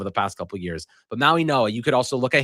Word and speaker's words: Mauigoa: The the Florida offensive tackle, Mauigoa? Mau- Mau- Mauigoa. Mauigoa. Okay. I'm really bad with names if if you haven't learned that over the past couple years. But Mauigoa, you could also look at him and say